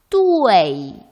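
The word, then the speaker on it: duì: 요거 발음 주의해야 되죠. 요거 사이에 뭐가 들어있나요? 네, UEI를 표기할 때 E를 생략한다고 했습니다. 그래서 여기는 E가 아마 들어있는 발음을 해야 할 거예요. 그죠? 표기는 이렇게 하고 발음 어떻게 한다? 사성까지 넣어서 뚜웨이.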